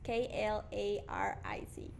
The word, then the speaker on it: Klaric: Okay, you might want to spell that, or is that something? It's Jurguen. Okay. And Klarik is Klaric.